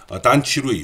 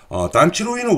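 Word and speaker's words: 段祺瑞: 수밖에 없었고, 그 대표적인 인물이 지금 오른쪽에 보이는 단치루이, 우리나라 발음으로는 단기서라는 사람입니다.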